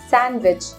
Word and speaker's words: sandwich: sandwich is also incorrect d letter has to be silent sandwich sandwich i'm sure you enjoy